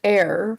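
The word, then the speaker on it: heir: hair not a child it's pronounced air for one I thought I said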